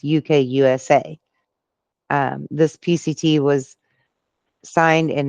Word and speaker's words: UKUSA: I don't know how you pronounce it properly. It's UKUSA.